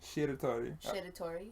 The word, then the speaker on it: Shiratori: Shiratori. Like sheer, but like I'm flipping the R.